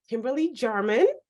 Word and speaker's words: Kimberly Jarman: And I have the pleasure of sharing this episode with my coach friend and colleague, Kimberly Jarman. Is that how you pronounce your name?